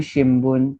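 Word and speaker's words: 新聞: So this would be शिम्बुन एम्पित्सु. तो न के बाद क्या आया, बी सीरीज वाला बू आया, इसलिए वो शिम्बुन हुआ.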